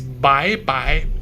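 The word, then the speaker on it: 拜拜: So this is first way to say goodbye is bye-bye. Bye bye. Goes up. Bye bye. Very simple, right? It sounds almost like bye-bye English because it came from bye-bye.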